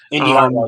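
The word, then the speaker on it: Indi Hartwell: Her name is pronounced. Indy Hartwell, yes.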